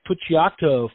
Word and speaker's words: Puciato: and it does not know we have greg pucciato formerly of metal core visionaires the dillinger escape